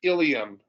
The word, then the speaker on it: ilium: um to know that terms like ilium or ilium um again are pronounced exactly the same but refer to different